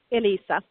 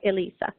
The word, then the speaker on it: Eliisa: Eliisa. Eliisa. So it's That's like what I thought. It's like Lisa. It's like Lisa with an E. So Eliisa.